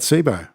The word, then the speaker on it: Cboe: Au is the best place yeah so it's not an acronym it's pronounced Sabo as we''ve been saying